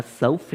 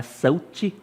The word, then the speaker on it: south: Repare nessa pronúncia, né? Self, não é sut.